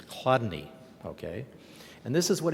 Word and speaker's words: Chladni: Now here's an example one of the people and I'm going to talk about today pronouncing his name is not easy it's Chladni, okay and this is what he said about